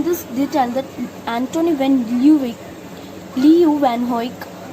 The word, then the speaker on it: Leeuwenhoek: Later, Van Lee, his name is pronounced as Van Leeuwenhoek, reported the discovery of microorganisms and and disease causing germs.